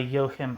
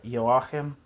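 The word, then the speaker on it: Joachim: debate was mediated by Yohim Hirs. I used to pronounce that uh yahim but I think it's just yohim yohim hers.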